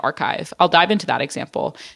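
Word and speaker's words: Arkive: you can help to curate a museum like archive I'll dive into that example so archive it's spelled a r k i v e I've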